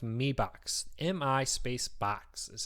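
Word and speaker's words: Mi Box: and said in China Mi said me like with an e on it so um I am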